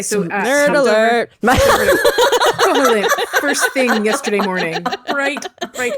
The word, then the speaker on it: Koholint: Is that how you pronounce it? Koholint.